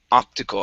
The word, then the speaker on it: optical: Um, next is let's go to optical. Okay, so here the stress is at the very beginning. Instead of optical, it's optical. Optical. Optical.